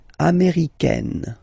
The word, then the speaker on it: américaine: So when you talk about the nationality, américain, masculine form, un, américain, and then feminine form, américaine. Américaine. Okay, it's really open this A-I.